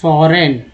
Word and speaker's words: foreign: over year को और बोलते हैं तो over the last 3 decades फॉरेन, जिसमें जी साइलेंट है, टूरिस्ट्स अराइवल्स इन द